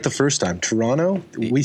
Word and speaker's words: Toronto: Toronto. We say this. The second T is for tourists. Oh, so anyone who's not from Toronto but lives here, they pronounce it Toronto, and then you can immediately tell.